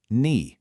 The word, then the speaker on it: 你: Okay, this is ni, pronounced ni.